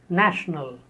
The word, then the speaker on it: national: Next word, 68, national. This word is based on nation, and the adjective form is national. A. The first syllable has a, national.